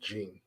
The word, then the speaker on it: Janae: have the middle name it's technically Janae but it's always it's always pronounced Gene that's how everybody pronounces it so she's got kind